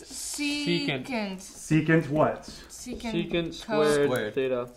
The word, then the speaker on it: secant: How do you say it? It's secant.